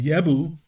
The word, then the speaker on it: Jebus: So the land was originally called Jebu or Jebusi, or if you want to say it properly, is Yebu or Yabushi.